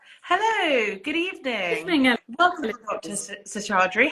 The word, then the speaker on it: Seshadri: there we are hello good evening welcome Dr sadre how are you I'm fine thank you thank you very much Elouise you've pronounced my surname perfectly thank you lots of